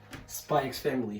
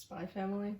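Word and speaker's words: SPY×FAMILY: She said there's no X. Alright. Okay, bye. Close the door, please. I don't think she wanted to explain the series, so I'm gonna do that. Spy Family.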